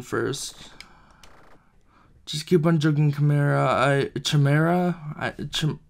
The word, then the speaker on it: Khimera: just keep on joking camara chamera i don't know actually it's pronounced chimera which makes a lot